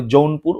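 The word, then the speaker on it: জৌনপুর: আর বাংলায় এইটা উচ্চারণ হবে যৌনপুর।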